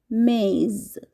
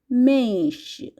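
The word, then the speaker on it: mês: মাসের নাম মাসকে পর্তুগিজ ভাষায় বলা হয়ে থাকে মেজ আবারো বলছি মেশ জানুয়ারিকে পর্তুগিজ ভাষায় বলা হয় জানেইরু জানেই ফেব্রুয়ারি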